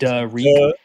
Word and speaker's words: Riq: You say Rick, man. I'm questioning your reading comprehension and reading skills. They have Derek Young in here in the pronunciation guide as well. It's Reek.